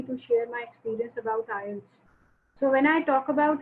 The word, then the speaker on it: IELTS: Many people pronounce it incorrect. They say IELTS, but actually the pronunciation is IELTS.